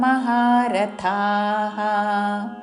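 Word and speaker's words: महारथाः: పూర్తి శ్లోకము భయాద్రణాదుపరతం మౌస్యంతే త్వాం మహారథాః येषाञ्च त्वं बहुमतो भूत्वा यास्यसि लाघवम्.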